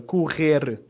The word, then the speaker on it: correr: Correr. Correr. Actually, I forgot to mention as well, this E here is it's not like your standard E, it's a bit of a pressed E, so correr.